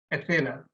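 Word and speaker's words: Αθήνα: something like that sam in greek it's not athens it's athena okay athena and in polish it's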